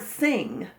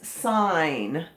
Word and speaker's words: sign: is not the word sing it is not ing it is ign so when you see the g in front of the n that means that the g is silent this is that is